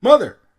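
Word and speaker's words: mother!: Yeah, I say it like that because there's an exclamation point at the end of it. Mother.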